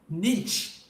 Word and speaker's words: niche: It is called niche or niche. Niche. Pronunciation varies.